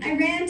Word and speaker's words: Iran: "I ran to Iran, I ran to Iran." The correct pronunciation, I always informed them, is Iran. "Iran" is a sentence, I told them, as in, "I ran away from my geography lesson."